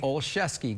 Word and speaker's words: Olszewski: Olszewski, good.